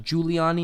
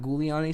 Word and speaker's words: Giuliani: on a YouTube video it's pronounced Giuliani not goo Leone so thank you very